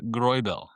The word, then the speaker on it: Greubel: here, you had Robert Grubel, which again, if we're going to look at if you're going to hear Robert, it's actually I believe Rober and then it's pronounced Groel.